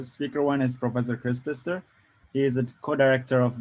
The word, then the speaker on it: Pister: So I am Kris Pister, rhymes with Easter.